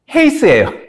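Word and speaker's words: εἷς: 근데 얘는 에이스가 아니라 헤이스예요. 이게 악센트가 달라요.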